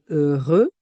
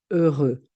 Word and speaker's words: heureux: terminera par Z comme heureux. Heureuse. D'accord. Une soirée heureuse, un garçon heureux. Je ne prononce pas aussi le X.